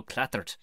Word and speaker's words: Clattered: Yeah, my brand new stand-up show, Clattered. And has to be said by, you got to lean into the 2 T's as well in the middle of really Clattered. Clattered.